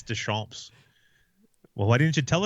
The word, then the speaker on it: Deschamps: As we've been informed, like the last day of the season, it's Deschamps.